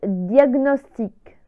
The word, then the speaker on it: diagnostic: world tour michael ciani agnosie agnosie mitrale 16 diagnostic diagnostic ouais l'amener à point dieme diagnostic prenant